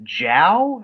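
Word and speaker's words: Zhao: think chloe i believe it's jao as how it's pronounced like a jay uh i think she's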